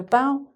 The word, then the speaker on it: bough: So: "bough", "plough", "ow". And funnily enough, "bough", you probably noticed, is the same pronunciation but different spelling as this one, this type of "bow", that sort of bow. So, we have come full circle to "bough", that kind of "bow".